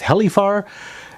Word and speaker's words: HELIFAR: an H 802 by I think it's pronounced heli far and it's a pretty